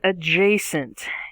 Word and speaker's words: adjacent: our first word is adjacent a-d-j-a-c-e-n-t we have a picture here we have two goats that are adjacent in the field we have a pronunciation there are three sections three syllables a j sent and that upside down